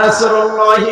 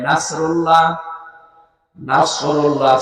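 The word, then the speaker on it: نصر الله: তো কেউ যদি এখানে সাদ বাদ দিয়ে সিন উচ্চারণ করে, ইযা জা নাসরুল্লাহি ওয়াল ফাত, সাদ মুখ গোল হয়ে উচ্চারণ হয়। এটা যদি কেউ সিম্পলি উচ্চারণ করে নাসরুল্লাহ, নাসরুল্লাহ সাদ মুখ গোল না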